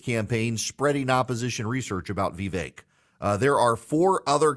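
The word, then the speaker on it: Vivek: V it's V uh V rhymes with cake V the santis people are helpfully pointed out vve rhymes with fake uh V ramaswami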